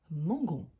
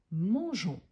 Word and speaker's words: mangeons: aura la prononciation Mangon pour ne pas avoir cette prononciation là on va garder le petit e même si on ne les prononce pas pour avoir la prononciation des mangeons mangeons et pas mangéon mangéon ou Mangon donc la prononciation correcte mangeons nous mangeons et cela s'applique à